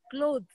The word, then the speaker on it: clothes: Clothes. The word has only one syllable.